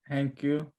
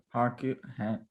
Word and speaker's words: Haku: Hankyu. Haku.